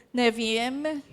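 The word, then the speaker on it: Nevi'im: Tama po ba pronunciation? Neviem.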